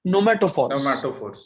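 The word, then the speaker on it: pneumatophores: Those roots are called as nomatophores. Nomatophores. Okay, those roots are called as nomatophores. Okay, P is silent in the spelling.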